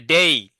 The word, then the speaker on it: day: অনেকে তোমরা ডে বলেছো, উচ্চারণ হবে ডেই।